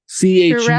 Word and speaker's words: Churel: Churel. Churel. I'm pronouncing that.